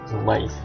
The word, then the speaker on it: mais: Jadi itu ya, di sini jangan ragu ya, mais. Jadi bukan me, kata mais.